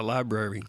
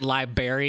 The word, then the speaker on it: library: know what's a library he pronounced it liberry it's a strawberry that